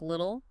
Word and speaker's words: little: That Americans often soften the T in little, so it sounds more like little, a small phonetic point, but, noticeable.